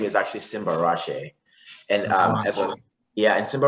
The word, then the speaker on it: Simbarashe: is simba so my full name is actually simba rashe and um yeah and simba rashid actually means